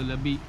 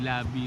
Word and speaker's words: Labi: labi River kumbaga ah ang bigkas nila dito labi hindi labi River tapos ah Nakausap ko